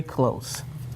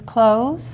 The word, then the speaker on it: close: In this one, what sound does the S make? A Z.